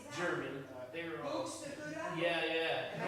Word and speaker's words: Buxtehude: Buxtehude? Yeah, yeah. Am I saying it right? Yeah, exactly. Buxtehude.